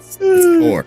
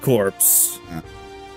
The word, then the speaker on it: corps: I know you do I hate everyone who mispronounces that word cor it's the death corpse I'm like like when